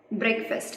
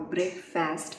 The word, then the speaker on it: breakfast: Breakfast, it's not breakfast or breakfast, it's breakfast. Breakfast.